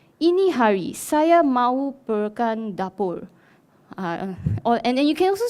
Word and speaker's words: dapur: And then dapur becomes lapor.